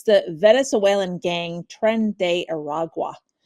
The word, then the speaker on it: Tren de Aragua: weekend, and we were talking beforehand how to pronounce this. It's the Venezuelan gang Tren de Aragua.